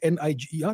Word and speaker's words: Niger: It's called, the spelling is N-I-G-E-R. It's called Niger. It's a French pronunciation.